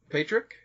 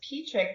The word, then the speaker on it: Pietrzyk: is Cole ish so even though it's pronounced Petrik there's a Z in it that's why I do